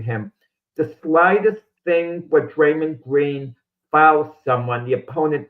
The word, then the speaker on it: Draymond: It's Draymond, but Richard is helping you out.